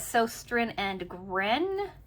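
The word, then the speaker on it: Søstrene Grene: I got this at a wonderful store called, I pronounce it as Sostrin and Gren. You can see it here, Sostrin and Gren.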